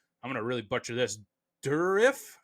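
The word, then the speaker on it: Dourif: Durif is how you say it.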